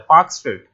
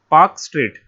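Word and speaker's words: Palk Strait: ठीक, तो पाक स्ट्रेट, पाक स्ट्रेट, इसकी स्पेलिंग PALK होता है, पाक स्ट्रेट, पाक स्ट्रेट।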